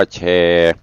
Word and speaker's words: แชร์: ไป ลืม เด้อ กด สระแอ ช ช้าง ร เรือ การันต์ อ่าน ว่า แชร์ แชร์ กัน ไป กด